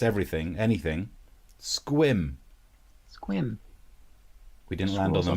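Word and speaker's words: Sequim: that is good shirt have you been to squams it's squim Joey in the chat he's from Washington State he can back us up lots of Elkins swim and that's how it's pronounced isn't it if he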